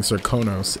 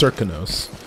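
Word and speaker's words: Serkonos: I've been saying Cirkonos. It's Cirkonos. So the accent is on Cirk.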